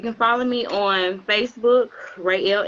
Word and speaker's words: Ruey: Rayel Industries is RUEY, but it's pronounced Ray. My middle name is, so that's where I got it from.